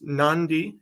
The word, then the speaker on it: Nadi: into the town of nandi I know it's spelled Nadi it's pronounced nandi n-a-n-d-i pronunciation wise but